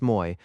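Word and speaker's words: Moÿ: Moy, pronounced Moy, was a pleasant little village, gathered round a chateau in a moat.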